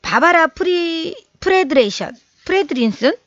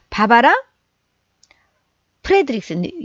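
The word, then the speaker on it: Barbara Fredrickson: 그래서 이제 바바라 프레드린슨, 잠깐만요. 바바라 프레드릭슨, 영어 발음은 좀 되게 늘 어렵습니다.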